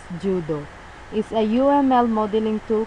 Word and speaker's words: JUDE: Astah, formerly known as JUDE, Java and UML Developers Environment, pronounced JUDO, is a UML modeling tool created by Japanese company Change Vision.